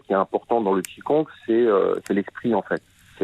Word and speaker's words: Qigong: Et on va dire une des composantes qui est importante dans le Qigong, c'est l'esprit en fait.